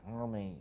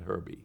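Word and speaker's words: Hermey: On the website they'll question the pronunciation, but it is Hermie, not Herbie.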